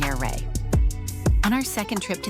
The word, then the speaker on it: Ouray: The pronunciation is tricky. But after asking the locals, we learned that it's somewhere between Ouray and Ouray.